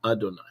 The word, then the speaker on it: Adonai: When you see these four letters, you are to pronounce the word Adonai.